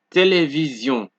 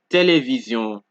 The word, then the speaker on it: télévision: So however, Sion is pronounced like zion when the S in sion appears after a vowel. Example, décision, vision, télévision, division, précision, transfusion, occasion.